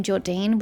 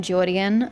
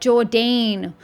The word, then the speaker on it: Jordine: Because they always pronounced them Jordian when I was doing those quest lines, and I always got annoyed because I'm like, bruh, it's spelt Jordine or Jordane or however you would pronounce it, but it's most certainly not Jordian.